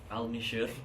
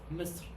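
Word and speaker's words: مصر: Al me should. No, it's Misr.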